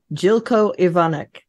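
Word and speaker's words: Željko Ivanek: I'm excited yeah just so you know you pronounce his name jilco evonik okay cool nice I looked it up he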